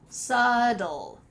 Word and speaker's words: subtle: So, this word is a unique case because we have a silent letter in the middle of the word. Let's say it together one more time, subtle, subtle, subtle.